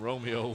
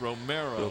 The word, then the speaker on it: Romero: Well, I think it was me last year that called him Romeo one time. But it's Romero. Romero. At least that's the way it's spelled. R-O-M-E-R-O. Romero. This one's going to be close.